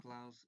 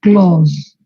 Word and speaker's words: clause: Pero es Claus, o sea, se pronuncia Claus, así como Santa Claus.